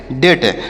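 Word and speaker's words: debt: हैं क्या लिखा गया डी ई बी टी तो डी से पढ़ेंगे ड ई से की मात्रा अब बी यहां पर साइलेंट है और टी से ट तो इसे पढ़ेंगे डेट अब डेट मतलब क्या होता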